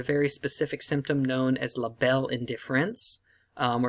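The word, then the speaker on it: la belle indifférence: specific symptom known as la belle indifference, or if you pronounce it in French, la belle indifference.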